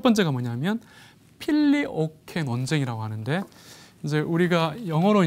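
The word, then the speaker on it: Filioque: 그래서 이제 이 단어를 쳐서 그러니까 한꺼번에 이제 우리가 필리오급의 라틴어로 혹은 이제 영어로는 필리오케 이렇게 이제 발음을 합니다.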